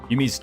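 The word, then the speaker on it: 弓: Is it yumi or is it yummy? Did I say yummy?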